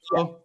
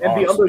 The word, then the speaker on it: Biyombo: Biombo, yeah, Bismack Bismack. Biyombo?